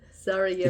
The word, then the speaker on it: Sarajevo: Sarajevo. It's pronounced Sarajevo. It's the capital of Bosnia.